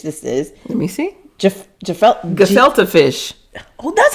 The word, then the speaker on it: gefilte: I was thought because that G's pronounced hard.